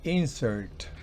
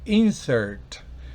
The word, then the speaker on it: insert: segunda sílaba miremos ahora el par de insert si es sustantivo es insert pero si es un verbo entonces es insert insert creo que usted ha